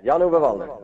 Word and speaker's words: Jan-Ove Waldner: Yeah, Jan-Ove Wallner. I think that's a beautiful pronunciation.